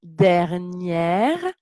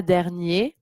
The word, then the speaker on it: dernière: La semaine dernière, donc prononciation dernière, pas dernier, parce que la semaine, c'est féminin.